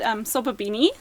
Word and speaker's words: Sobabini: Okay, well, it's called Sobabini.